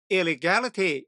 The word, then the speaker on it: illegality: 또는 불법 행위라는 명사입니다 참고로 이렇게 ity 끝나는 말은 바로 앞에 음절에 강세가 있어요 그래서이 단어도 발음이 illegality 이렇게 되는 겁니다 또 다른 파생어는 illegalize